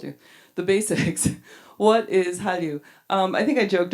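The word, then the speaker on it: Hallyu: China um and those characters happen to be pronounced the same in Chinese as well as in Korean so it's Halu um and it was coined back in 1999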